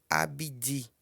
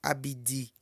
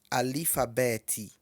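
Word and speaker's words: abídí: Como no idioma Yorubá não tem a letra C, pronuncia-se Abidi, que seria o A, B e o D, né? Porque não tem o C, já vai pro D. Então pronuncia-se Abidi, Abidi Yorubá, ou Alifabete, Alifabete. Então assim, ó, tanto faz um como o outro, tá? Tanto Abidi como Alifabete estão corretos.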